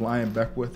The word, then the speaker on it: Lyon Beckwith: China is spelled Chyna. My name is Lyon Beckwith, and any of my social media, you can